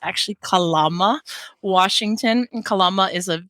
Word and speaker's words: Kalama: a city there in Washington state which everybody pronounces incorrectly by calling it Kalama Washington but it's actually Kalama Washington and Kalama is a very large strong